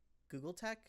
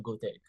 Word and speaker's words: Gultek: So you're saying that you got Gultek, or sorry, Google Tech? Is it, how'd you pronounce it?